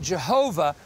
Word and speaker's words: Jehovah: We pronounce it Jehovah.